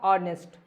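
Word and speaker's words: honest: है यहां देखो ये देखो इसमें भी जो ये एच है इसका साउंड नहीं आता मतलब ये साइलेंट होती है इसको पढ़ा जाता है ऑनेस्ट बहुत बच्चे इसको नेस्ट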